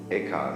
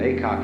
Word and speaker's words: Eka: Eka is Japanese pronunciation, like Zen is the Japanese pronunciation of the Chinese Chan.